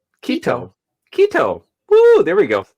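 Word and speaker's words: Quito: Uh, the country's capital city is looks like uh is it I'm going to mispronounce this? Quido. Kito.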